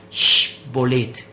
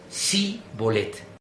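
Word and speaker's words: shibboleth: La palabra era sh bolet y 42,000 efraimitas, si el relato no es apócrifo, murieron degollados por pronunciar en su lugar si bolet.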